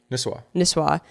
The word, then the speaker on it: Nisswa: Nisswa, Minnesota.